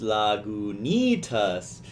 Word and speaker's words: Lagunitas: never noticed before actually they tell you how to pronounce Lagunitas lagoon eat us on lip of the bottle that's really funny yeah